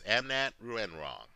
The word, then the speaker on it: Amnat Ruenroeng: call him amnat right it's amnat renrong amnat is easier to pronounce he's not going to